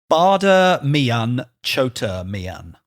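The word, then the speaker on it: Bade Miyan Chote Miyan: Do you want to try and pronounce it in absolutely Hindi? Absolutely I not. guess it's in Hindi, I think. Bada Mian Chota Mian.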